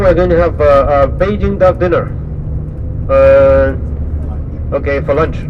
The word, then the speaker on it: Beijing: Now we call it Beijing. So Beijing is the real name of the city according to our pronunciation.